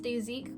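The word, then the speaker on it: Dasique: So the next thing I got is this blush palette by, I believe it's pronounced Daezik because it's written in Korean as Daejik.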